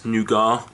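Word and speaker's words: nougat: lot more caramel there's a lot less nouar which is the correct way to say the word so that we can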